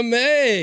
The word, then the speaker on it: Mai: Cuz in some Asian countries, I think the AI is pronounced I. Yeah. A lot of people say my. They do. Yeah. But it is May.